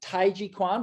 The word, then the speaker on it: Taijiquan: So my biggest passion is Qigong, and I pronounce it Taijiquan, but you probably know it as Tai Chi. I just pronounce it in a much more traditional sense.